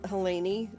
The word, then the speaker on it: Helene: Helene, which her name looks like Helene, Helene, but it's Helene is how it's pronounced.